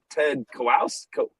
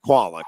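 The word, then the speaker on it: Kwalick: Well, it was Ted Kowals. How do you say Qualick. Ted Qualick. Oh, Ted Qualick.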